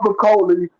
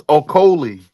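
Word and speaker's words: Okolie: Those they wasn't in order, but you got Lawrence Makoli and Lugassi Jr. over Daniel Dubois and Moses Atana. No, Lawrence Okoli.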